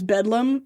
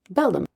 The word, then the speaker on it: Beldham: I thought for sure it was Bedlam forever. It's you did the dyslexia switch. I did. Yeah. But it's Beldham. Beldham.